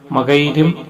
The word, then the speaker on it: മകയിരം: നാട്ടു നാട്ടുകളിൽ നാട്ടു ഭാഗങ്ങളിൽ മകൈര്യം മകൈരം അങ്ങനെ പല രീതിയിലായിട്ടാണ് ഈ നക്ഷത്രങ്ങൾ നക്ഷത്രത്തിന്റെ പേര് ഉച്ചാരിച്ചു വരുന്നത് ഉച്ചാരണ രീതി എന്തുതന്നെ ആയാലും ഞാൻ മകൈരം നക്ഷത്രം എന്നാണ് പറയുന്നത് അപ്പോൾ നിങ്ങൾ അത് മനസ്സിലാക്കുക